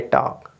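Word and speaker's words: talk: करेंगे tell next देखिए टी ए एल के है ठीक है ना तो आप पढ़ेंगे टॉक क्या पढ़ेंगे टॉक ठीक है ना स्टार्टिंग में टी है तो आप टॉक पढ़ेंगे इसके बाद क्या है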